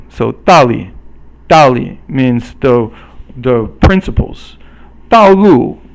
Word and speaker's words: 道路: 道路 is both fourth tone, 四声, and it just means the road.